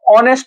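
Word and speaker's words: honest: দেখো তোমার পাঁচের নম্বারটা অনেস্ট রয়েছে অনেস্টের আগে তোমার এ দিয়েছে তাহলে সেক্ষেত্রে তোমার অনেস্টের ক্ষেত্রে তোমার তো অনেস্ট হচ্ছে এজ উচ্চারণ হচ্ছে না তাহলে সেক্ষেত্রে তোমার এন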